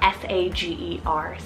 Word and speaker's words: Sager: similar to Sayer is the name Sager spell s-a-g-e-r Sager now with sage On The Rise around